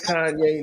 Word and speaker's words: Kanye: My name's Kanye, not Kane. Everybody mispronouncing the name.